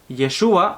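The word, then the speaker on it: ישוע: Su nombre, Jesús de Nazaret, como se menciona en castellano, probablemente en hebreo su pronunciación hubiera sido Yeshua o Yehoshua, que no es más que el nombre Josué, o una versión un poco más corta del nombre Josué, el mismo personaje bíblico.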